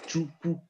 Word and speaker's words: Chukwu: He pronounced it similar to the way you pronounce it, Chukwu, Chi, Ukwu.